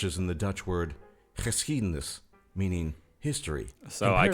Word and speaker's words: geschiedenis: You see, the G in Dutch is pronounced ch, and Dutch has lots of chs.